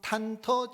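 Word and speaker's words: 忐忑: 그래서 이 증후군을 탄터 증후군이라 그래. 이제 탐특이라고 우리는 읽는데 중국 사람들은 탄터라고 발음을 하는데, 탄터 증후군, 중국이 이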